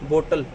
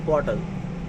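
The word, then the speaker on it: bottle: अब इसको बोलते क्या है लोग कि वाटर बोतल, ऐसे। दैट इज़ नॉट वाटर बोतल, that is water बॉटल, right.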